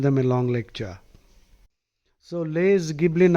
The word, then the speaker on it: Les: So less Giblin I think the S is silent poor fellow as usual in this dumb language letters are there but you are told it is silent.